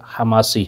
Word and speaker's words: حماسی: Number 5، خطابت حماسی، اس کے مختلف لہجے بھی آئے ہیں، حماسی بھی ہے، حماسی بھی ہے، خماسی بھی کہا جاتا ہے، تو عام طور پر رائج جو تلفظ ہے وہ شاید حماسی ہے۔ وہ یہ ہے کہ